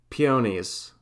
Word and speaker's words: peonies: P O knees. Peonies. Peonies.